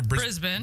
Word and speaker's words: Brisbane: that Friday in Bris is it Brisbane or Brisbis Brisbane I said it right yeah you did